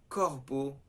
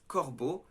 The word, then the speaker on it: corbeau: So for example, a difficult one is E-A-U is pronounced O. So it has no O inside, but you pronounce it O.